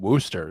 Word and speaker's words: Worcester: So it's the story of this woman, and she lives, I think in Worcester is how you pronounce it, Worcester, Massachusetts, kind of If in the there's- same If there's area.